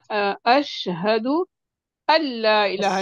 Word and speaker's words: أشهد أن لا إله: बस वही जब भी आता ना अशहदु अल्ला इलाहा, नून समझे साइलेंट है, बिल्कुल प्रोनाउंस नहीं होगा, हमजा को लाम से मिला दें, जैसे ए डबल एल अल, ऐसे अशहदु ऐसे हमजा.